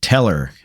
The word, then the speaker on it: Tellor: take a look at teller i believe that's how it's pronounced it is trb slash